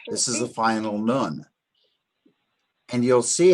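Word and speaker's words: נ: Now, the next letter is nun. I spell it N-U-N or N-O-O-N.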